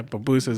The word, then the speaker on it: pupusas: Yeah, you got to learn how to say it first. Papusas. I almost feel like I'm saying something. Papusas? Yeah, pupusas, there you go.